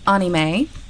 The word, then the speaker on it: anime: Well, apparently we're meant to pronounce it anime, but I personally just think that sounds silly. But then again, most people probably think I sound silly saying manga. So anime is the movie version of manga.